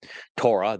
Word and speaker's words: Torah: This is guided by his Torah instructions. Torah, the O sound in Torah, is derived from the Hebrew Wah, and the concluding Ah sound is derived from the Hebrew Hey.